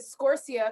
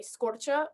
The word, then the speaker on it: Scorcia: last name now yeah and then the family did scorcia because that's just like phonetically and then ci in italian is cha so my dad really wanted us to say scorcher but there's something more pretentious than going to elementary school and being like it's scorcher scorcher scorcher